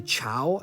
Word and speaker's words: chough: I say chough. That could be very much incorrect.